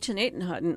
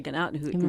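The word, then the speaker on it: Gnadenhutten: Same with Chenatenhutton, or as the locals say, Gnatenhutton.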